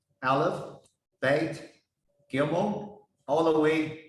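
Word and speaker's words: אלף: It pronounced Aleph.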